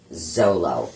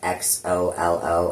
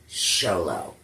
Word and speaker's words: Xolo: I kept calling Miguel, the actor that plays Miguel, Zolo, cuz it's spelled X O L O. And apparently it's pronounced Xolo.